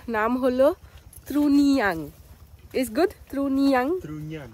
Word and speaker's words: Trunyan: Truniang? Truniang. Yes. Okay. It's a bit hard for me to pronounce.